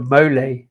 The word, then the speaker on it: mole: couple of years ago they did a mo uh which is spelled mole really confusing but uh